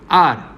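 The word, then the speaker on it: hour: For example N आर, इससे हम क्या बोलते हैं? आर बोलते हैं, हवर नहीं बोलते. क्यों? क्योंकि यहाँ पे फर्स्ट लेटर एच है वो साइलेंट है.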